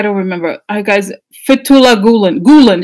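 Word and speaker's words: Gülen: remember guys Fethullah Gulen Gulen just say GU le and Gulen is the name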